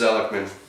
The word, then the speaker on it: Zelikman: for the zelikman right and it is zelikman I hear lots of pronunciations but that is how you say it well what I